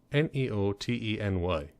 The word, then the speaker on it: neoteny: humans anyway known as neoteny I may be mispronouncing that it's n EO te and ey no n EO t en Y I really can't read my own writing sometimes